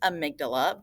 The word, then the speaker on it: amygdala: is the amygdala so this is uh it's pronounced amygdala but it's spelled like Amy G dalla and